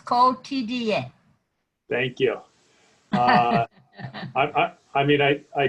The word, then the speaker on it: Quotidien: Quotidien. Four syllables. Quotidien.